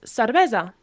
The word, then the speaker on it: cervesa: You tend to ask for beer a lot, is cervesa. Cervesa. Cervesa. Okay? Similar to the Spanish, but it's cervesa.